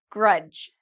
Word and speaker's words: grudge: Grudge. Grudge, same rule, D and G together. Grudge.